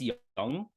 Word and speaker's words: Jung: I think it's Young, but it's young? spelled like Jung.